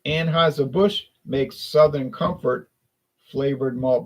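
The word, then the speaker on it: Anheuser-Busch: flavor B beverage yeah I said it right anhis a bush makes Southern Comfort flavored Malt Beverages there's the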